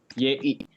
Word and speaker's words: gli: Tulisannya itu GLI, tapi kita bacanya itu seperti ini. YI. Y. Seperti itu ya, teman-teman. Tulisannya GLI, tapi kita lafalkannya anggap aja seperti YI.